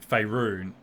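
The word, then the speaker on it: Faerûn: Hey, by the way, when this was loading up and it said Faerun, he said Faerun, like the Abitoral, the continent that the Forgotten Realms is set in.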